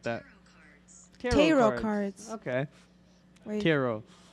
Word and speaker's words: tarot: okay hero cards okay tarot it's french you don't pronounce the t or i'm giving up